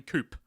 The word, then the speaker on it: Coup: of coup yeah oh if you don't know how to pronounce it properly coop yeah you can't play